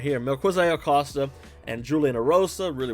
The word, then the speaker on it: Melquizael: Melquizael, that's how you say it. I just had to pull it up on the I'm looking at it right here. Melquizael, Costa, and Julian Ersoa really went to war.